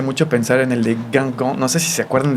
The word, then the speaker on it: Guingamp: Me este estallo me hace mucho pensar en el de Gangong.